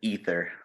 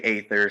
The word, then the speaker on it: Aether: the name of the band is ether you really didn't know how to pronounce that dude it's okay we get a lot of we get a lot of people that say Aether so that's all right